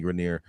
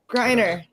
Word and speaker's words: Griner: Why do people always turn her into some French chick? Whatever, Grenier. Griner. Pronounce her name right, bro. Pronounce her fucking name right. It's when you know better. When you know better, do better. Griner. What is it? Griner. Don't do that. There you go. It's like grinder without the D.